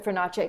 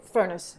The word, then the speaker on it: Furnace: that is just stunning mr fernache furnace excuse me either way it's fine you know most people